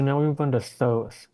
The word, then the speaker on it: Thoth: Um, and so now we move on to Thoth. A lot of people have also heard it pronounced as Toth. Um, Or Thoth or something like that.